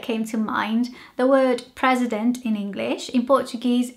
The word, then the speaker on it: presidente: to mind the word president in English in Portuguese it's spelled very s similarly just with an e at the end but it sounds quite different in Portuguese it sounds like presidenti and in English it